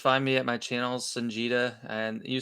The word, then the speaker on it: Songeta: channel, Sanjita, and you say it kind of like son, like somebody's son, and it's a long E, so Jita. I say I don't say my name too often in the videos, but a lot of people say Son Geta.